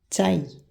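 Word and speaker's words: τσάι: Le son J n'existe pas en grec. C'est pour ça ici, on prononce tsaï. Tsaï, c'est le T. Et dzaz. Dzaz. On ne prononce pas jazz, on prononce dzaz.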